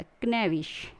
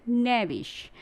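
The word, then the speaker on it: knavish: Negi, knoll, नाउट, नेट, नेविश, के साथ पढ़ेंगे तो क्या हो जाएगा, क्नेविश, और ये हो जाएगा आपका रॉन्ग प्रोनाउंसिएशन। तो राइट प्रोनाउंसिएशन में हम क्या पढ़ेंगे, नेविश, नोवर, नार, नीटर, नैपशेक एंड नेग।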